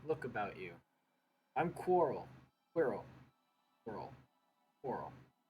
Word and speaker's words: Quirrell: Quirrell. Quirrell. Quarrel. That'd be Quarrel, because it's spelled like squirrel.